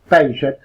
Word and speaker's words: Paget: Debería pronunciarlo correctamente Sir Lord James Paget, porque era británico, no francés, como la mayoría cree.